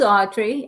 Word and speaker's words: Audrye: Fabulous Camille hi thank you my name is Audrey I do spell it a-u-d-r-y-e that is correct um it's Audrey